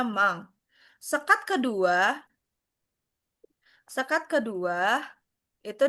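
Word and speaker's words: 万: Sekat pertama sekat satu itu bacanya mang.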